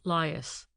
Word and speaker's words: lias: These were called lias. The name lias is derived from layers pronounced broadly by the Somerset quarrymen as liars.